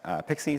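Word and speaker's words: PKCE: client secrets from mobile apps instead we use pixie so pke is pronounced pick C stands for proof key for code exchange it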